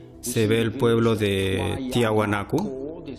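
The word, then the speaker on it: Tiahuanaco: Si se mira desde arriba por Google Earth, se ve el pueblo de Tiahuanaku. Este es la pronunciación en español y tenemos a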